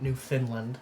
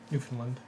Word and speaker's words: Newfoundland: I guess you're right, I am pronouncing it New Finland. Yeah. Newfoundland.